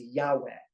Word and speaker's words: Yahweh: then V and then a he that's literally pronounced as Yahweh hence that's why God is name is Yahweh